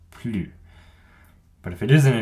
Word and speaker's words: plus: it's a negation so with a negation we never pronounce the s on plu but if it isn't a negation you might hear plus i already have a